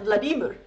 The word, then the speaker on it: Vladimir: Only he said you're supposed to pronounce it Vladimir.